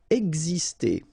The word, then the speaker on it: Exister: Exister. Okay, so it's really this X here, it's pronounced like X, X, exister.